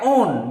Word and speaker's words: own: O-W-N. O and W-N. W is silent here.